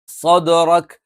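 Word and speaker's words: صَدْرَكَ: അലംനഷറ അലംനറ അലംനറ ഇനി ഇനി സ്വാ എന്ന് പറയുമ്പോൾ നാവിന്റെ കൂർത്ത അറ്റം രണ്ടു വരി മുൻപല്ലുകൾക്കിടയിൽ അല്ലെങ്കിൽ അതിന്റെ തൊട്ട് പിൻഭാഗത്ത് വെച്ചുകൊണ്ടാണ് നമ്മൾ ഉച്ചരിക്കാറുള്ളത്. സ്വ സ്വദറക്ക് സ്വദറക്ക് സ്വദറക്ക് സ്വദറക്ക് ഇനി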